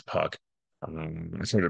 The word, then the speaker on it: Puk: Puck I believe that I don't think it's puke I think it's Puck um I'm sure to